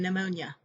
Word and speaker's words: pneumonia: p has no phoneme it is usually silent when followed by s t or n at the beginning of a word examples are psychology pterodactyl and pneumonia here are some more